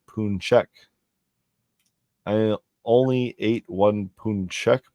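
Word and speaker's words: pączek: Singular form of the word is Paczek. That's pronounced Punchek.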